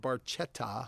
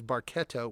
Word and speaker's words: Barchetta: So it specifically says the pronunciation is Barchetta with a K sound rather than the TJ sound sung by Geddy Lee.